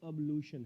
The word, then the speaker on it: ablution: था एज a homework, अब्लूशन। ये है वर्ड, स्पेलिंग आप चेक कर लीजिए, ABLUTION। इसका प्रोनाउंसिएशन या इनंसिएशन हम कहें तो अब्लूशन है, मतलब ब जो है वो आधा है, अब्लूशन अब्लूशन।